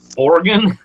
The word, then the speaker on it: Oregon: parts of Alabama because we call it organ not orgon Oregon I'm going to Oregon